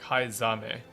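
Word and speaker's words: Heismay: It should be zah like hi zame not s zame z like even in in his name it is literally zah not sa or it's supposed to be pronounced like it's pronounced in Japanese yeah it's that h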